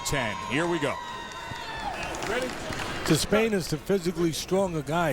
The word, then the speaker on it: Despaigne: By the way, we went a couple of years with everybody saying Yordenis Despain. That's how it was to be pronounced, and he said last night, you know what? Despain. So that's what we go with, Despain.